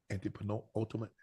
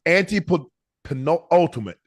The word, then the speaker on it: antepenultimate: Anti-penultimate. The first word is anti-penultimate.